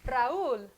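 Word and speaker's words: Raúl: and fun fascinating and here we have one already raoul same situation you weak vowel would normally be gobbled up by the strong vowel so if we didn't have this it would sound like what raul one syllable this time i'll have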